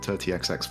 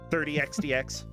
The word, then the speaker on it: 30XX: actually call it 30XX, by the way. 30XDX. No, just 30XX, just like you said before. No, I said 30XDX. Oh, in that case, you said it wrong.